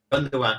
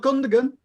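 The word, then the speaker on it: Gündoğan: Gundogan, yeah. Not Gundogan.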